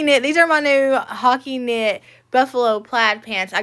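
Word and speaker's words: Hacci: these are my new hockey I think that's how you say it h a c c i it's the hockey knit or hooty Hy hockey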